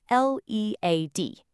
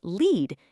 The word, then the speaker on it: lead: A perfect example is L E A D. If it's pronounced lead, it means to guide someone.